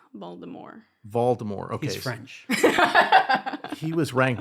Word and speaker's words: Voldemort: ranked and is it voldemort voldemort the t is silent baltimore voldemort he's french he was